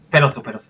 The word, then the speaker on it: Peroso: ¿Se pronuncia bien? ¿Peroso o Peroso? Sí, sí. Peroso. Peroso.